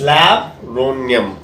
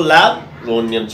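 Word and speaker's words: laburnum: It is pronounced as Labronium, okay. So Labronium, children, so that is nothing but it's a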